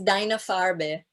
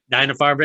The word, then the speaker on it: Deine Farbe: But before I let you go, could you go ahead and pronounce this film's name in German, because I can't. It's Deine Farbe. Yeah. Deine Farbe, Deine it Farbe.